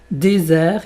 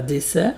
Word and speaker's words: désert: Donc juste un petit rappel et moins important apprivoiser to désert et pas dessert.